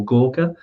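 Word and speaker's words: Gorkha: you got gka beer which they call Gorka is how it's pronounced in the pool you've also got lots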